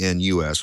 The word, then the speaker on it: Gnus: gnws this is before G gnus which unfortunately is pronounced the same way but uh gnws is